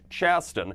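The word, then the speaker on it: Chasten: Pete and his husband I believe it's pronounced Chaston so in this story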